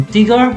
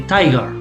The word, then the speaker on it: tiger: So for example, here you don't say tiger, you say tiger, because the last letter of the syllable is a vowel, so it has to be I and not E.